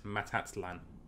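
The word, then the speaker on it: Matatlán: Nope, I missed a syllable. So not Matalan, it's Matatlan. Matatlan.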